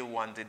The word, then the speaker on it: wanted: Oh, mba kwa moun ta pèti nan sa parce que tout moun tande wanted.